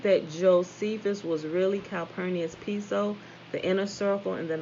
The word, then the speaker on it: Piso: The New Testament, the church, and Christianity were all the creation of Calpurnius Piso, pronounced Piso, P-E-S-O.